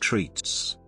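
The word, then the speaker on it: REITs: real estate investment trusts rights pronounced treats nav is normally quoted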